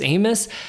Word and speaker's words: Amos: I always pronounce my name Amos, right? Like famous Amos.